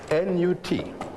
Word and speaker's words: Nut: How do you spell that? N-U-T. Pronounced Nut. Some people write it N-O-U-T.